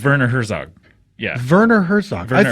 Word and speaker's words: Werner Herzog: You mean Warner Herzog? That's The not guy how who you directed pronounce Grizzly? it. It's not? It's Werner Herzog.